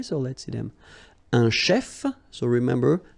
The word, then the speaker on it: chef: Un chef, so remember, CH, it will give you the sh sound.